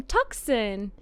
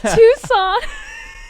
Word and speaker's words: Tucson: So, but I was like, oh, hey, so you're from Tucson. And it's Tucson.